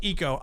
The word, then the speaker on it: ICO: It's called Eco. ICO. ICO.